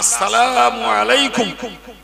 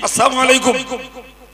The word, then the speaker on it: আসসালামু আলাইকুম: আমরা আসসালামু আলাইকুম এটা শুদ্ধ, যদি আমরা ব্যস্ততায় শুদ্ধ না করে বলি আসসালামু আলাইকুম আর ওই লাম আলিফটা আর উচ্চারণ হলো না, তাহলে প্রকারান্তরে শান্তির জায়গায় ধ্বংস কামনা করা হলো।